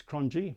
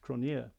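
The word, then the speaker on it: Cronjé: a lot of english people think that it's crunchy but in actual fact it's pronounced cronier now cronier is a fairly common name in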